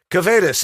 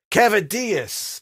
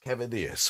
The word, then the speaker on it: Kavadeus: yeah can you hear okay John yes John cetus is that how you pronounce that no but it's close enough cavadas cavadas okay that a Greek name yes all right